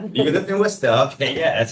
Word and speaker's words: Worcester: You lived in Worester. Okay. Yeah, that's how you pronounce it. Um, not Worcester.